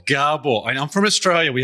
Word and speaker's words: Gabor: And I'll be even more greater pleasure if you pronounce my name right. It's Gabor. Gabor.